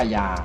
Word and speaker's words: คยา: ที่ เรา ออก เสียง เป็น อินตรา เดียว ว่า กายา มี นะ ใน ปัจจุบัน เนี่ย มี ข้อ สันนิษฐาน